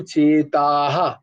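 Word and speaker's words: চেতাঃ: বিসর্গ থাকলে উচ্চারণটা ওইভাবে হয় যেমন স্বভাবহ কিন্তু চেতাহা বুঝতে পেরেছ এইভাবে উচ্চারণ হবে ধর্ম সঙ্গে মূরচেতাহা তারপরে যশ্রেহা যশ্রেহা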